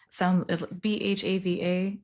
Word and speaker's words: Bhava: And the other company is Bhava Communications. Bhava Communications. Rhymes with Java, and would love to hear from you.